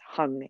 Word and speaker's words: hung: sa sa say so hung and notice the hung is not drawn out when when snotum sings